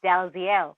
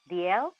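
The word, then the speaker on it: Dalziel: z i e l so you think it's DL but actually it's pronounced DL huh yeah it's a lot of weird pronunciations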